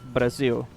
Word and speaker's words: Brazil: Basically uh Brazil is the name. We just don't use the soft R that English has. So it's Brazil.